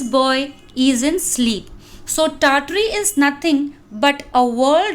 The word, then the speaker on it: Tartary: This is Tartary, Tartary, in which the first R is silent, Tar.